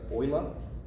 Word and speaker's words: Euler: called Euler's number it's spelled Euler but we pronounce it Euler German mathematician um yeah I think that's all